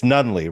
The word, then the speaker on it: Nunneley: Yeah, Anyway, today I, Dan Roberts, your Dadlit Pod host, is joined by Nunneley. It's Nunneley, right? Not that is Nunneley. correct. Yes. You're one of the first people to pronounce it right on the first try.